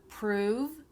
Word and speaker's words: prove: The vowel sound, right? Prove, that's longer. You're saying it for a longer length of time.